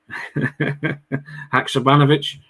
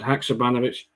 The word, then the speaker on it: Haksabanovic: We were practicing the pronunciation. There was a conversation had on WhatsApp this morning. Just to double check. Haksabanovic. That right, Sean? Too good at this, aye. Sead Haksabanovic.